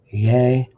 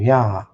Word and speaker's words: Yah: back to H3068 which which they rendered as Yay and Yah is correct. Yay is incorrect.